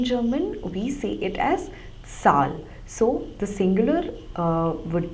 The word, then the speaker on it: Zahl: call number in German we see it as Sal so the singular uh would be Sal and